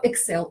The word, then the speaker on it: Exell: Фабрики проверенные, они действительно следят за качеством производства, и поэтому в продукции Excel можно хорошо, Excel правильно говорить, можно, качеству можно доверять.